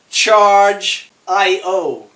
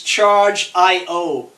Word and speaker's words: Chargiot: out you pronounce it charge aiyo the way you pronounce the name of the company is charged I owe you do not the T is silent so it's charged I